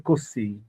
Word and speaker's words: cozy: Oh, ça se dit cozy. Let me do Google Cozy. pronounce it. Cozy. It's cozy, cozy. It has to be Z sound.